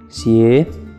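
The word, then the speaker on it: 邪: Bueno, la palabra para zapatos en China es xie, que suena exactamente igual que una palabra de mala suerte. En este caso, la palabra mal, que se escribe igual, xie.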